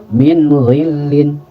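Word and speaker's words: مِنْ غِلٍّ: Min ghillin, min ghillin. Jadi tidak mina, apalagi min gitu ya. Langsung saja min, jelaskan bunyiannya tanpa dilamakan.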